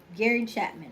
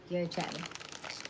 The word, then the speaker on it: Gary Chapman: Gary Chapman. Okay, yeah. Gary Chapman.